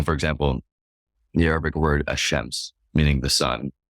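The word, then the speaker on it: الشمس: example the Arabic word hashems meaning the sun is actually pronounced without the l sound as shems because of the following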